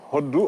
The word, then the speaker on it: Hoddou: du khalam, qu'on appelle Hoddou en poulard. Je ne sais pas si je prononce bien. Oui, oui, vous l'avez bien prononcé, c'est le Hoddou en poulard. Hoddou.